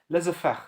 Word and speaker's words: laissez-faire: «не мешайте» по-другому переводится, на французском произносится laissez-faire, да?